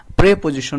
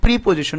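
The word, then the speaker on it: preposition: আগে কিন্তু কি একটা প্রেপজিশন রয়েছে আর এটার উচ্চারণ অনেকে এই যে এটার উচ্চারণ অনেকে প্রিপজিশন বলে এটার প্রোনাউন্সিয়েশন হচ্ছে প্রেপজিশন এরপরে সর্বশেষ যেটা আমরা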